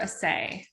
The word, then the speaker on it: Asay: Amber Asay. I think it's so Amber, and then Asay is spelled ASAY, and her studio is Nice People.